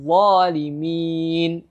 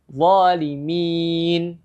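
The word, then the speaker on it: الظالمين: Jadi cara membacanya, la yanalu ahdil zalimin. Itu untuk 2 harakat. Zalimin. Kemudian yang 4 harakat. La yanalu ahdil zalimin. 4 harakat. Kemudian yang terakhir. Ada 6 harakat.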